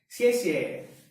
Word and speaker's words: 谢谢: So thank you is said as 谢谢. Now this pronunciation is important. I would write it down. 谢谢, 谢谢. This is pronounced as sh, sh. It's not sh, it's not s, it's sh, sh.